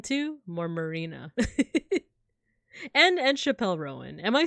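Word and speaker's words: Chappell Roan: the way is it Chappelle Rowan or Chapel Rowan Rowan it's George versus a pulling who's going to get it who's who's winning who's getting it Chapel rone oh okay pronounced like Chapel oh okay okay it's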